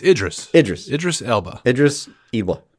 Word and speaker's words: Idris: listened to the show and yelled the correct pronunciation what is it again i'll learn eventually it's idris idris idris elba idris evil gotcha all right